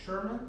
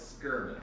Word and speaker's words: Schuurman: your last name says sherman it's actually well it's skirmish skirmish although some people with the exact same name pronounce it sherman so whatever is what